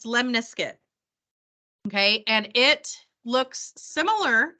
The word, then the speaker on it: lemniscate: to talk about is called a Lim it's pronounced lemniscuit okay and it looks similar the equation looks